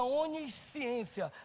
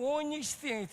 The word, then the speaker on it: onisciência: Outra característica do Senhor é a onisciência. A pronúncia é onis mesmo, tá bom? Tanto presciência quanto onisciência.